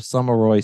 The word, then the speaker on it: Sommarøy: And we're talking with James Cosma and Michael Barkin, co-founders of Sommarøy Spirits.